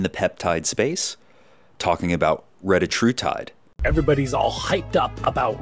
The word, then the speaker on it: Retatrutide: wanted to talk to you about Retatrutide, not Retatrutide. It's pronounced Retatrutide.